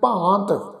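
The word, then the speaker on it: ਭਾਂਤ: कई कोट कीने बहु भांत, भांत शब्द पब्बे नूं कन्ना, उपर बिंदी का पाठ उच्चारण करांगे जी भांत।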